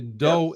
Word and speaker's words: Do-In: Now I mispronounced. I said Do-In. It's actually Do-In.